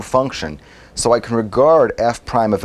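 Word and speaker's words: f′: F with this little tick mark here, I'm going to pronounce that prime, f prime of x.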